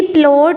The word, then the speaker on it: ploughed: ही प्लोड the fields. अच्छा, ये word है PLOUGHED. हम इसको पढ़ेंगे प्लोड.